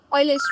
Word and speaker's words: Euler: तो इस टाइप के क्वेश्चंस को सॉल्व करने के लिए एक बहुत ही पॉपुलर रूल है जिसको कहते हैं ऑयलर्स रूल. EULER ऑयलर्स रूल. I know the pronunciation is अ bit weird, लेकिन that's not the main thing over here.